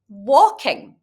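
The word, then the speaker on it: waulking: You still need to do something very special with it, something that's called walking. Now, this isn't the walking like that you do with your legs. It's spelled W-A-U-L-K-I-N-G, and you use your arms for this.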